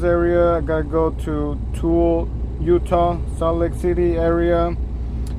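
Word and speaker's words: Tooele: I'm currently headed to Toole, Utah. I believe that's how you pronounce it. T-O-O-E-L-E, Toole, Utah.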